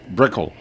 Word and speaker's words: Brickle: here in Woonsocket at the Bickle Group, right? Brickle. Yeah. That's correct. I always mispronounce that for some.